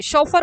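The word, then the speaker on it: chauffeur: और hired car शोफर spelling से pronunciation देखिए शोफर बोलते हैं इसको यह भी आपका जो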